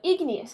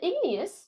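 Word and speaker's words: igneous: these sedimentary rocks now ignas is a clue in that word too it sounds like the word ignite so to ignite something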